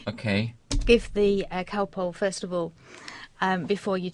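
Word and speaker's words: Calpol: we'd be used to giving him a spoonful of cowpole. Of what? It's called cowpole in English. How do you spell that?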